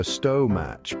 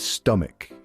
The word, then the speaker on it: stomach: Some folks go with stomach, while others prefer stomatch, but the truth is the correct pronunciation is stomach.